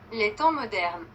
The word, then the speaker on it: Les Temps modernes: I know this is annoying, but I would like to know how to pronounce this. Les temps modernes.